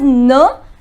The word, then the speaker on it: ne: The pronunciation is n and pa.